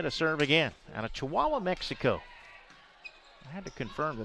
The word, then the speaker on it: Chihuahua: Katia Garcia to serve again out of Chihuahua, Mexico. I had to confirm that that was the correct pronunciation.